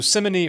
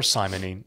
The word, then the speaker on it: simony: been very clear so simony or simony you and I have a different pronunciation we're just stuck with